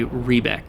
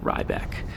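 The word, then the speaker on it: Riebeck: as inflections go, but it is a long E. It is E rather than I. I'm assuming that's how you pronounce it, so I guess starting now, I will say Rebec instead of Rybec.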